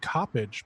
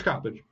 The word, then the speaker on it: Coppedge: a really dumb question I've always called you Bob copage but somebody recently pronounced your last name copage it's copage okay so um all